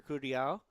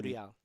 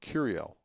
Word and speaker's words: Curiel: you pronounce his last name? Curial. How do you spell it? Curiel. And Curial. Because I've been calling him Curiel. No, it's Curial. Curiel? You have to roll the R.